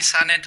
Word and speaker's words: Sa-NeT: with saying it is that correctly pronounced yeah why not you can call me son it or okay yeah thanks for